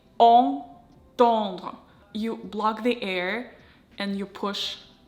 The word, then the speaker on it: entendre: And here we've got two nasal A. Entendre, entendre.